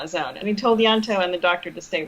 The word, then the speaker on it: Ianto: hard to say like it's almost as if it was spelled with a y yanto yeah pretend it's y-a-n-t-o